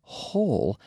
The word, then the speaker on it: whole: pronunciation of the word whole wh o le but it's pronounced the same as whole as in agulato whole whole so we have almost like the Spanish Jota but very soft right the H in